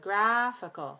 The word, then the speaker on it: geographical: geographer geographer adjective g not g r but g graphical so again alternate clear reduced clear week week all right so